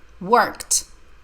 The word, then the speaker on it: worked: the best of work worked the letter E the e d sounds like T I worked hard all